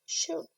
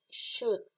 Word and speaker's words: should: You say should. It's like the U and the L doesn't exist. You say should. I'm sorry, the O and the L should.